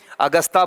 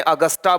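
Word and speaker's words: Augusta: अगस्ता बोल दें, अगस्टा बोल दें, ये प्रोनाउंसिएशन है।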